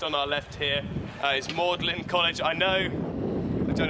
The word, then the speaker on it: Magdalene: said it was magdalin pronounced with the Latin pronunciation which is mlin pretty clever I'll give him that uh and that's how it's called mlin so then it became